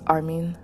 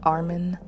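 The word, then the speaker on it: Armin: so another ending note people sometimes find it humorous when you say his name as Armen rather than Armen which actually had me puzzled a bit so I looked up the name a while ago to check and from what I recall the name is both Persian and German and can be pronounced both Armen and Armen the Japanese pronunciation the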